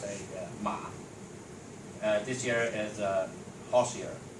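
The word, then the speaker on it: 马: Okay, so in Chinese we pronounce it ma.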